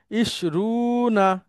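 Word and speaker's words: عشرون: 20 হচ্ছে আমার সাথে মাসুদ আলম ভাই আপনি উচ্চারণ করবেন ইশরুনা ইশরুনা ইশরু ইশরুনা এই একটাই শুধু মানে মিল কম আছে।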